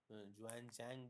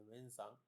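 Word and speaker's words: Xuanzang: And Harshvardhan के समय में भारत में जो विदेशी यात्री आए, वेन सांग जैसे लोग आए, जुआन चैंग जिसको हम अंग्रेजी में प्रोनाउंस करते हैं और हिंदी में वेन सांग, उनके विजिट से हम बहुत सारे इन्फॉर्मेशंस देखने को हमको मिलता।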